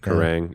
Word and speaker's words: Kerrang!: Is that how you pronounce Kerrang! it? Kerrang, yeah.